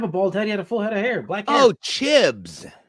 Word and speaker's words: Chibs: hair black hair oh chibs oh chibs my bad I said his name wrong I was like chip the Irish guy I'm thinking about the